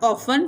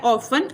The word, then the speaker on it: often: OFT of times, इसका मतलब इसको हम ऐसे पढ़ते हैं OFTEN ऑफन, टी इसका साइलेंट होता है, ऑफन अक्सर औकात।